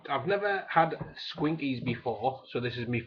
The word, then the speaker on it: Squinkies: Squinkies, not Schwinkies as I kept pronouncing it.